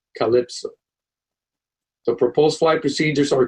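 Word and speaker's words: CLPSO: example the CL PSO weight one will be pronounced Calypso the proposed flight procedures are color purple for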